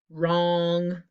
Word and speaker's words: wrong: word repeat after me wrong if you're not right sometimes you're wrong like song okay think about all